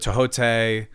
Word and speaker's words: Thoth: Oh, I've heard it Tohote, Thoth. Okay, because I normally say Thoth. Yeah, that's my favorite way to say it, but I didn't know if there's like an actual potato.